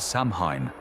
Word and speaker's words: Samhain: This is Samhine, pronounced so in the most sacred and terrifying night of the Celtic year.